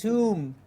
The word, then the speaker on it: tomb: tomb.